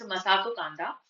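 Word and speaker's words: Masato Kanda: ठीक है, तो ये थोड़ा सा मेरे से प्रोनाउंसिएशन मिस्टेक हो गया था। इट्स मसातो कांडा।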